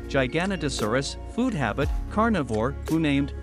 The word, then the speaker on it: Giganotosaurus: United States Giganotosaurus name meaning giant Southern lizard pronunciation Giganotosaurus food habit carnivore who named Rodolfo Correa and